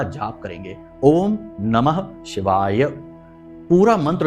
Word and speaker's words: ओम नमः शिवाय: पूरा मंत्र उच्चारण करेंगे बहुत से लोगों को हमने देखा कि मंत्र ही सही नहीं बोल रहे तो काम कैसे होगा मंत्रों में शक्ति है ऊर्जा है तो बोलते हैं ओम नमः शिवा ओम नमः शिवा तो ना तो नमः बोला ना ही शिवाय बोला तो ये गलती नहीं करनी है अच्छे से उच्चारण करना